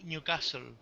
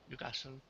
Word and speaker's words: Newcastle: So when you say the city Newcastle, say Newcastle, no Newcastle, Yeah. Newcastle.